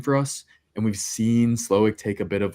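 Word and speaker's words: Slowik: And we've seen Slowick take a bit of like a philosophical, yeah, that's how you pronounce that.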